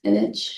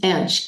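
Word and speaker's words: Ensch: Enich. It's Edge. E N S C H.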